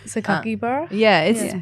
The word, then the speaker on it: Sakakibara: Sakakibara? It's pronounced the way it's spelled. Yeah. So if you just break it up into syllables, and that's what Japanese is, it's all like syllables.